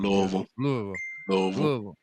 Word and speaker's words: Louisville: You gotta say Louisville with the tips of your tips touching. Louisville.